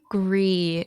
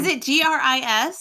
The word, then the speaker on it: Gris: podcast I'm Chris and just pronounce it wrong the entire time gr is yeah it's great which